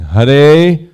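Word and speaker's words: Hare: shaki shaki then in the vocative in the pronunciation of the Mantra is har H so we're saying Hur Krishna Hur Krishna Krishna Krishna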